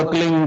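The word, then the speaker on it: क्लीं: है, किलोमीटर में फैलेगा, उसका होता है एक शब्द क्लीन शब्द, क्या आधा ला में मिला हुआ, बड़ी की मात्रा और बिंदी, उसका उच्चारण होगा क्लीन गा। गा की ध्वनि निकलेगी पीछे।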